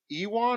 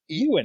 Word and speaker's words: Ewan: Bobby all right starring I always pronounce his first name wrong is it Ewan or euan euan euan okay euan McGregor I like Ewan better dude like it's close enough